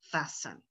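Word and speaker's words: fasten: husband would pronounce it but i don't pronounce the t in the middle fassen a word like island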